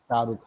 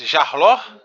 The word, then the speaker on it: Shahrukh: Yeah, it's Shahrukh, yeah. Is Jarlor? Jarlor, no name? Shahrukh.